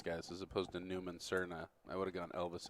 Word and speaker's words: Serna: All right, Newman and Cardenas versus Newman and. I think that's Serna. Serna. We definitely have different regional pronunciation.